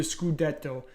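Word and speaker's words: scudetto: Titan win the skudeto I should say uh the proper Italian pronunciation the skudeto um I I think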